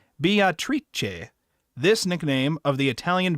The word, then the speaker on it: Beatrice: As Beatrice is Italian, her name is pronounced in the Italian way, not Beatrice, but Beatrice.